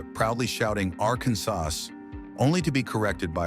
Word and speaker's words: Arkansas: You have to say it with the final S, silent, reflecting its French origin.